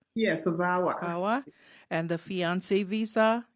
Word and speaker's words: VAWA: So, you help with asylum, citizenship, deportation, work permits, DACA, travel documents, VAWA, is that how it's pronounced? Yes, VAWA.